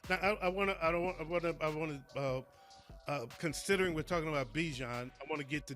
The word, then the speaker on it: Bijan: Okay, I just wanted to open the door for you since we was talking about Bijan, and it rhymes with Dijon.